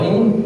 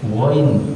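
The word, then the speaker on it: غين: Yang keruh itu kho ha ko kalau ain ghain bukan gin.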